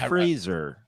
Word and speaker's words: Fraser: I mean, It's pronounced Fraser.